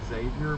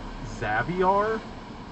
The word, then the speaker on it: Xavier: Also, according to uh Babuar himself, his first name is not pronounced Xavier, but it's pronounced as Caviar, but instead of a C, it's an X. So, Zaviar.